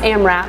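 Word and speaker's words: AMRAP: morning Diddy um it it's pronounced am wrap it's as many reps as possible am am WP back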